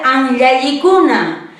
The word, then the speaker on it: Hanyalikuna: Profesora, pero está con H. Debería de ser Hanyalikuna. ¿Por qué estás pronunciando con J? Perfecto, yo les voy a explicar por qué. Ya, dentro del alfabeto quechua, la J va a tener H va a tener un sonido como J.